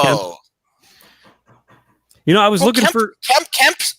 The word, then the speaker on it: Kemp: I was looking for Kemp rhymes with hemp.